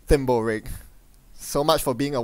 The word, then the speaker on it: Thimblerig: course of course yeah it's pronounced thimble rigged so much for being